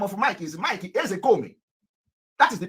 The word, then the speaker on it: Ezekome: The real name of Mike is Mike Ezekome. That is the pronunciation. Mike Ezekome.